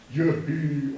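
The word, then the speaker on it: יְהִי: Yehi, or. Okay. The what? The yod doesn't make a sound at the end.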